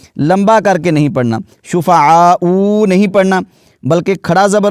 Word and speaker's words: شُفَعَاءُ: ہے۔ یہ لفظ دیکھیے، یہاں پر واو کے اوپر حمزہ ہے اور اس کے اوپر پیش ہے، تو اس کو شفعاء ایسے نہیں پڑھنا، تو ہم اس کا